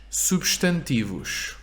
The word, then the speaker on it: substantivo: And now we also know why this S in substantivo is sh, right? Because substantivo has 4 syllables. Substantivo. First S is at the beginning of a syllable, su. Second S is at the end of the first syllable, substantivo. Substantivo. So always if the S is at the end of the first syllable, it's a sh.